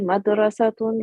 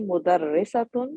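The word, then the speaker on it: مدرّسة: So hazihi madrasatun wa tilka talibatun. No, look at the word again. The word has a shadda on the ra. This is not school. Okay. Yeah. Hazihi mudarrisatun wa tilka talibatun.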